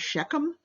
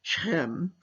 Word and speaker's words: Shechem: I think it's pronounced in English Shechem, but in Hebrew is Shechem, and so the Israelis insist on calling it by the Hebrew name.